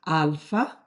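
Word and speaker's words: άλφα: It's pronounced alpha, and instead of putting a lot of H's in this transliteration, I'll just use A. But it stands for A, alpha, as in Father, Carl, Martha.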